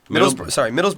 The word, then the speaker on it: Middlesbrough: They're tied with Middlesbrough. Middlesbrough. Say it right.